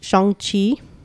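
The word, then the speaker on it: Shang-Chi: know um i like you i did watch shang chi yeah that's how you pronounce it at least according to that and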